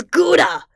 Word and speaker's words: Gouda: I'm sure he said but that's not how you pronounce it it's Gouda it's Gouda and I won't say it any other way plagg yelled it wasn't